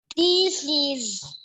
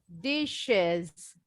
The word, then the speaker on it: dishes: Dishes. Bunyinya pakai es. Dishes. Dishes. Yes, dish. Jadi bunyinya SH. Dishes. Dishes. Ada SH-nya itu bunyinya kalau bahasa Indonesia kayak SY ya. Jadi dishes.